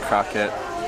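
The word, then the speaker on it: kroket: Croquette is pronounced croquette with E as in Beck.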